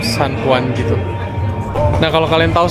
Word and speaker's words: San Juan: Jadi kan tulisannya Juan, tapi bacanya tuh San Juan gitu.